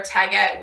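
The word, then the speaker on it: Taguette: So it's like baguette, but with a T instead. Where can I get support for Tagette?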